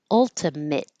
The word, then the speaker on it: ultimate: s but the adjective ultimate ultimate with it like sit ultimately ultimately alternative alternative